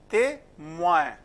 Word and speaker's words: témoin: Témoin, moins, O-E-N, oin. Okay. Oin is again not in our system, so you have to pay attention to this.